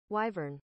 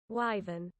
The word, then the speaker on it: wyvern: only me in chat wyvern. So it is wyvern but there's American and American and British pronunciation. Here's the British pronunciation. Wyven. So British just sounds like that with a British accent.